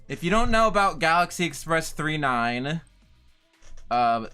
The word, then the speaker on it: Galaxy Express 999: you don't know about Galaxy Express 39 uh pronounced G Galaxy Express 39 but spelled Galaxy Express 999 um completely forgot about